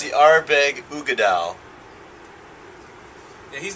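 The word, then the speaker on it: Uigeadail: Oh, Go ahead and pronounce it's the that. Ardbeg Ugeadal. Yeah, he's not butchering that. I'm sure that's how you say it. No, it is. It's called the Ugeadal?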